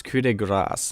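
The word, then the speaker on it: coup de grâce: Okay, so it's coup de grace, not coup de grace.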